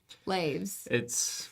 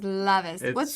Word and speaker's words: Lavis: I'm like, how many times have I said Laves versus Lavis? What is Lavis? Is it French? German. My history teacher thought it was French for a very, very long time and kept pronouncing it Lave. And I was like, that's also wrong, but that's fine. That's closer than Laves.